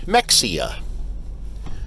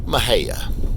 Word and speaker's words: Mexia: invariably, when people come to visit, they'll call it Mexia. Well, the locals pronounce it Mahia.